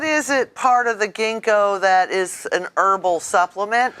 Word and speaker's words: ginkgo: The ginkgo tree is not pronounced ginkgo. It is not. No, it is ginkgo.